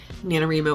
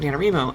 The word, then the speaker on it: NaNoWriMo: So we always called it NaNoWriMo, and then come to find out that most people pronounce it NaNoWriMo. So I do pronounce it NaNoWriMo, so I'm sorry. I try to pronounce it NaNoWriMo sometimes for people because people get very upset about this, even though there was an official statement that you can pronounce it either way.